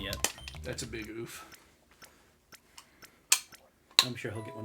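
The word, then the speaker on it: ouphe: But it's pronounced oof. O-U-P-H-E. Oof.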